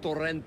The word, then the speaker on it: Torrente: This one is called Torrente. You got to say it like that? Torrente. It's a Spanish character.